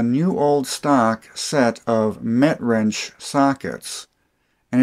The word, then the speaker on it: Metrinch: This is a new old stock set of MetWrench sockets, and it's pronounced MetWrench, not MetWrench.